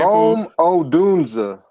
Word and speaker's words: Rome Odunze: Rome Odunze. Rome Odunze, the wide receiver out of Washington.